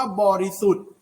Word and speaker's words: บริสุทธิ์: ว่า บริสุทธิ์ อา บริสุทธิ์ คำ นี้ จะ ใช้ ทอ ธง กระ อิ อิ นะ ครับ แล้ว ก็ ตาม ด้วย เครื่อง หมาย ทัณฑฆาต นะ ครับ จรัล นะ ครับ โดย ที่ ไม่ ออก เสียง ทอ ทง สะ อิ นะ ครับ นัก เรียน ต่อ